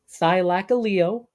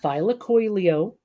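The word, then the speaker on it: Thylacoleo: also Thylacaleo, which is Thylacaleo, not Thylacoileo. that's the wrong.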